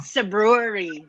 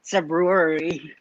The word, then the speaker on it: Cebruery: Uh, Cebruery. So think of Cebu and think of brewery, but when you're tipsy, you say Cebruery.